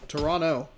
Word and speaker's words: Toronto: Toronto, excuse me. You don't pronounce the second T.